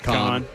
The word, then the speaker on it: Kahan: Kahan. Yeah. Kahan. No extra air in there.